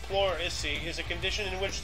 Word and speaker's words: pleurisy: standard gauge, dies of Chrissy at 68. What is that? Okay. Sounds brutal. It's apparently pronounced pleurisy, is a condition in